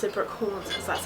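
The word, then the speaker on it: Brookhants: the school was called brook horns but it's spelt like it shouldn't be pronounced that way it's just spelt h-a-n-t-s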